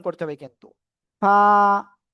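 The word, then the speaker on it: ف: হালকা বাতাস বের করে উচ্চারণ করতে হবে। কিন্তু ফা ফা ফা সবাই একসাথে আনমিউট হয়ে জোরে জোরে বলেন।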